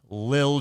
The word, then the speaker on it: Lil: Dobbins uh to Little Jordan. Uh bunch of roster stuff going on. I'm I'm sorry. You added an extra syllable. Can you say that again? What? It's Lil Jordan.